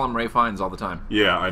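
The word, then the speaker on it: Ralph Fiennes: seen it written Ralph but people call him ray finds all the time yeah I know I don't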